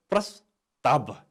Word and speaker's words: प्रस्ताव: हेर्नुहोस् है त, यसको उच्चारण हुन्छ प्रस्ताव। प्रस्ताव भन्दा यहाँ व भए पनि हामीले उच्चारण गर्दा बको उच्चारण गर्छौँ। प्रस्ताव यसरी उच्चारण गर्छौँ।